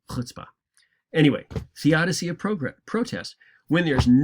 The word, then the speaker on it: chutzpah: By the way, chutzpah, we usually spell it with a CH to start with, but when you're looking at Hebrew words that start with a CH, it usually means that they're pronounced with an aspirated H at the beginning, kind of a sound. So chutzpah.